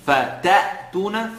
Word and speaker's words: فَتَأْتُونَ: فَتَأْتُونَ فَتَأْ. The sound is sharp because of the hamza.